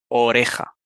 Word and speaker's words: oreja: la J es decirles que pronuncien oreja m oreja y también ojera o sea orejas y ojeras MM y si te fijas van a pronunciar las dos palabras si lo pronuncian mal van a sonar igual van a decir ojej